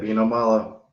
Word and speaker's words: Vino Malo: here with Mason, aka Vino Malo. Did I say it right? That's it, Vino Malo.